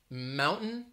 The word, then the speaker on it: mountain: true t sound time mountain that is more of a stop t because it's like you're getting ready to say the t and then you're stopping right before mount mountain it's like your